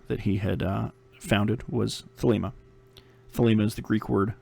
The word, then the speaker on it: Thelema: It gets mispronounced a lot too. Thelema is Thelema. Man, I've heard it pronounced a whole bunch of different ways, but pronunciation I usually go with is Thelema.